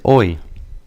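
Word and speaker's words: hoy: that word here is oi oi any idea what oi means o means today if you also notice that H is silent just like the word hour in English the H is not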